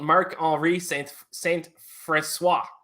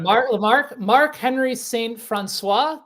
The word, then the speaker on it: Marc-Henri: Marc-Henri Saint-François. Did I say it correctly? Marc-Henri Saint-François. The Chiefs for a long accent, time. But that H is definitely silent, and it's definitely Henri.